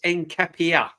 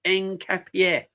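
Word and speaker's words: Nketiah: It's pronounced Encapier. All right, Enden. No problem. Encapierre. Encapier.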